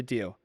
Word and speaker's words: Deas: see if I can snag you a better deal.